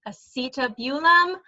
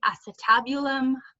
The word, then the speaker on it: acetabulum: And again, this one right here, this is the acetabulum, which is how I usually pronounce it, but a lot of people say acetabulum. Again, however you want to pronounce it is fine with me.